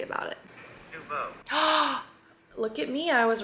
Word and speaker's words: Nouveau: Nouveau.